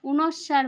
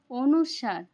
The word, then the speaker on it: অনুস্বার: অন্তস্থ অ খন্ডত অনুস্বার এটাকে অনেকেই অনুসার বলেন কিন্তু এটার আসল উচ্চারণ অনুস্বার বিসর্গ চন্দ্রবিন্দু তাহলে এখন